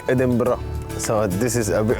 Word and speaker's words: Edinburgh: Do I say it right? Do I pronounce it Edinburgh. Right? Edinburgh. Perfect.